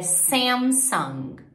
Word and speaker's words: Samsung: é super parecido Sony Sony e Samsung é Sam song Motorola em inglês então Lembra que eu falei